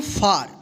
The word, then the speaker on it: far: तो यहाँ पे देखिए FAR क्या पढ़ेंगे इसको फार। तो रूल क्या था ए का आ उच्चारण नियम का, कि जब किसी वर्ड में